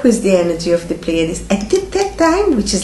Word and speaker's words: Pleiades: here are the Pleiades, how you say it in English, Pleiadot? The Pleiades. Pleiades.